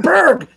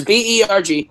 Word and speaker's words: Berg: It's Berg. He said it.